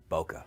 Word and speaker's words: bokeh: Rich smooth buttery bokeh I'm say bokeh but I know it's Boke sweet sweet bokeh Japanese don't have a a sound at the end of you know there's no sound like that at the end of their word so it's h so it's bokeh anyway um but you